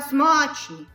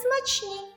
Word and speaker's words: смачні: Так, яблука смачні. Смак просто казка. Здається, треба казати смачні.